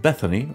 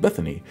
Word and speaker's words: BethINI: w the step resident i and i master beth eine pronounced bethany okay that's it's pronounced bethany is an attempt to restore decency to the